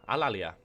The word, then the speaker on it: Alalia: toot Al Al alalia alalia that's right alalia and corales so that's